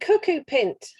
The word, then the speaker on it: cuckoo pint: So, more commonly known as the cuckoo pint, that rhymes with mint, not pint.